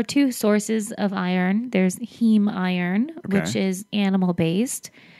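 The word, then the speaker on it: heme: that your body uses heem iron much more effectively um how do you spell that h m okay so it's Hema like the prefix for hemoglobin essentially yeah okay um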